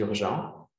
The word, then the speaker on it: urgent: next example with c'est urgent? Oui, of course, bien sûr. Je lis tout? Yes, the next OK. example. Alors, c'est urgente. Ce n'est pas urgente. C'est pas urgente.